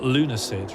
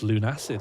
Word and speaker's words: Lunacid: Not Lunacid, right? You might think it's pronounced Lunacid. It's not, it's Lunacid.